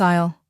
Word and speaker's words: aisle: The pasta is in aisle three. Example two. Please walk down this aisle. Example three. Which aisle has the pet food?